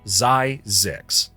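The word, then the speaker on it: Zzyzx: Yes, that's a real place pronounced Zyzix, though many fumble it.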